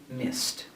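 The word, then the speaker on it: missed: the spelling here miss the ed sounds like a t and here we say mist another sound is a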